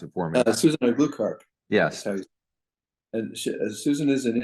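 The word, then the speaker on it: Aglukark: last name, so I'll let you try and pronounce it for me. Susan Glukark.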